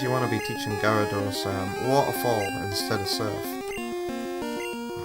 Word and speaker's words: Gyarados: Gallarados. That's how how I used to pronounce that Pokemon's name. Gyarados.